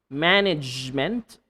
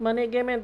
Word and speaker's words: management: Management, not management. Okay? Not management, okay? That is not the correct way of saying management.